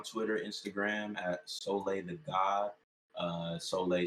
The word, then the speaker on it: Sohleè: follow me on twitter instagram at solaythegod uh solay spell s-o-l-h-e-e the god g-h-a-u-d um that's on instagram and twitter again god is spelled g-h-a-u-d and then soleil s-o-l-h-e-e i mean it's really good that you